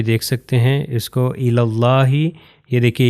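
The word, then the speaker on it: إلى الله: سکتے ہیں اس کو الی اللہ، یہ دیکھیے یہ یا بھی جو ہے تلفظ نہیں ہوگا، یہ الف بھی تلفظ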